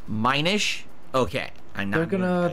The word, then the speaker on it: Minish: mentioning those did I it's pronounced Minish okay I know they're